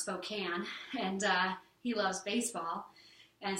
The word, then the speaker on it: Spokane: live we actually live in Spokane it's brad pronounced spokane and he loves baseball and so he got